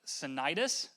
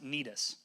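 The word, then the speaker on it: Cnidus: with difficulty we arrived off it looks like citis but it's actually pronounced nus all right so we arrived off of nus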